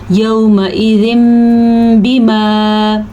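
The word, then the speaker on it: يَوْمَئِذٍ بِمَا: अच्छा जी, ये देखिए आपको तनवीन नज़र आ रहा है। जब नून साकिन के बाद या तनवीन के बाद इस तरह का हर्फ बा आ जाए तो नून साकिन या तनवीन के ऊपर आपको छोटा सा मीम नज़र आएगा, तो वो तनवीन नहीं पढ़ी जाएगी या नून साकिन नहीं पढ़ा जाएगा, बल्कि ये मीम पढ़ा जाएगा।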